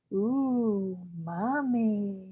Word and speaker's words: umami: and that flavor is umami pronounced ooh mommy it's a really cool